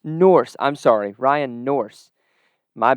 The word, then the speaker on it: Nourse: And tonight we have Ryan Nourse from Montana Western. Coach, how are you doing tonight? We're doing great. Perfect. And I did get that last name right, correct? It is Nourse. It's Norse. Nourse.